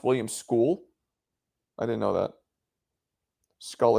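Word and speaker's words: William Scull: Why they keep calling him Oh, it's pronounced William School.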